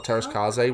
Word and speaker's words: Teräs Käsi: It's called Star Wars Masters of Teräs Käsi, or Teräs Käsi, which is the way it's pronounced.